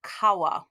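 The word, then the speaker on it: 川: these so first of all let's start with kawa oops i don't know why it flipped over there kawa means river okay look there's three three lines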